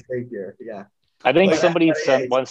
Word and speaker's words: Zapier: Tell me the company that connects things that are SaaS companies starts with a Z, Zapier.